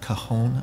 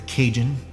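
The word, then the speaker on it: cajón: to play the cone the cajon rather or the cajun if you pronounce it the way it looks um so we're stoked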